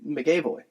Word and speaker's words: McAvoy: And I just love James McAvoy. Yeah. I don't like the way you said his last name. How do you say it? Is it not McAvoy? Is it M-A-C? It's M-C. Okay, McAvoy. McAvoy.